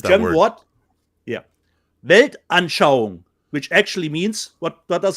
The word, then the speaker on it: Weltanschauung: How do you pronounce The that German word? word? Yeah. Weltanschauung, which actually means, what does it mean, Rob?